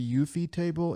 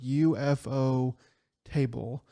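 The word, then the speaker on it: ufotable: I So don't know if there's a different way, but I think it's pronounced the UFO table. It's like UFO table.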